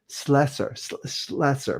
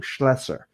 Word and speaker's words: Schlesser: I learned a lot from Ira and from Peter Schlesser, but I'm saying it wrong. Schlesser, that's right.